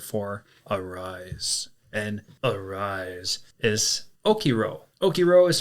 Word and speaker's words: okiro: And arise is okiro. Okiro is spelled o k i r o.